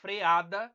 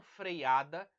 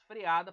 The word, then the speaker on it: freada: no caso cuidado pneu a freada e não freada não tem esse mim certo é apenas freada por mais que venha da palavra freio e tem UE mas você deve pronunciar freada Ok e Aqui nós